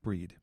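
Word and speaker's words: Brigid: Her name is pronounced Breed.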